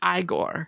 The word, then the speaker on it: Igor: the one that that is always there it's pronounced igore yeah can we discuss how they changed the